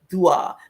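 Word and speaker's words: ṯwꜣ: were called Dwa because that's spelled T with a diacritical mark underneath it, which gives it a D sound, a soft D sound. Dwa.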